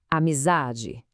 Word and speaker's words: amizade: Imagina isso chamando por amizade. Como é que suaria? Provavelmente soaria mais ou menos assim. Amizade. Percebe? Usar é que se alonga, que se destaca. Essa é a sílaba tônica.